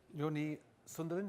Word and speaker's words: Joni Sundelin: Now we are going to hear from Helsinki Airport and Joni Sundelin, is that how I pronounce it?